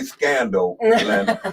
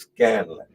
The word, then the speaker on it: Scanlon: Oh, did I say Scanlon? That's his name. I didn't say scandal. Okay, I just want to make sure I said it right. I didn't want to say scandal. It's Scanlon. Okay.